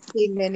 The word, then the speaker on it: Gaiman: So why did I don't know how to say his last name? Gayman? I Gayman? thought it was like Gaiman. Yes, Gayman, yeah, okay, that's what I thought.